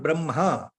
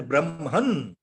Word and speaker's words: Brahma: They have used the Brahma word as Brahman, Brahman. See, that is a very wrong way of depiction of Indian Sanskritam words.